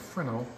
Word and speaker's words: Fresnel: side what is a Fresno lens M with me a second right a Fresno lens pronounced frenal is what makes the